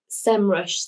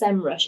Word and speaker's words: Semrush: Sci-Fi did anyone else get really upset when semrush said that they it's pronounced semrush and not sem Rush I remember when um